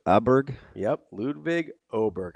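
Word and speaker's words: Åberg: Oh, Oberg. Aberg. Yep. Ludvig Oberg. I believe with the Omlot above it, it's pronounced as Oberg.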